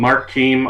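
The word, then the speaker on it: Keam: And So you're running for a seat vacated by Mark Keem. Is that how you that's pronounce his right. name? Mark Keem, our delegate for a little over a dozen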